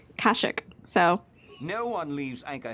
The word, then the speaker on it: Kashyyyk: star wars nerd okay everybody was giving me for saying kashyyyk wrong but the i guess i think this video game was the first time they pronounce the planets um like like verbally and